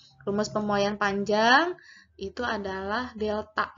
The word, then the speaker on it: delta: Rumus pemuaian panjang itu adalah delta L. Ini yang segitiga, bacanya bukan segitiga, tapi dibacanya delta.